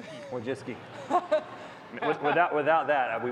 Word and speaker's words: Wojcicki: when you came out we have a phonetic pronunciation written right here Wiis Wiis without without that